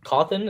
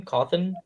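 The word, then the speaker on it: Cawthon: So basically it shows Scott uh Cawan, is that how you say his name? Coffin, the guy that wrote the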